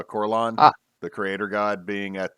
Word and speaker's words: Corellon: it is instead uh make sure i'm pronouncing it right so instead of coraline instead of uh corellon the creator god being